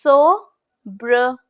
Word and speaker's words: sobriquet: That's sobriquet. Sobriquet. Sobriquet. That's how we pronounce it.